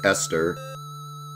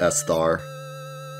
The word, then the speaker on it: Esther: only do five it's esther not s star e-s-t-e-r we found it yeah i don't know why i always remembered the way her name is spelled i always thought it was an interesting spelling it's always remembered it it's like easter without me or easter without nay bone village boss